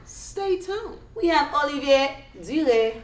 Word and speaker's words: Duret: We're here with the one and only Oli Duret. You guys, I stand corrected. The T is pronounced. I'm thinking the T is silent. I don't know. It depends on the person. Okay. Some say Duret, some say Duret.